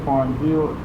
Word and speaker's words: pharyngeal: The fifth center is pharyngeal, P-H-A-R-N-Y, Y-N-G-E-A-L, plexus, located in the throat, just over the larynx.